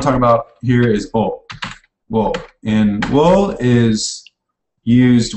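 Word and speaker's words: を: But it's definitely not like an English pronounced wo. It's almost just an O with a little W in front of it.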